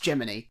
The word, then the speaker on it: Gemini: But the cricket in this is called Gemini, but it's pronounced Gemini.